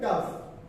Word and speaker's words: tough: First thing is for me is pronunciation. Always a challenge. This is easy, right? Tough.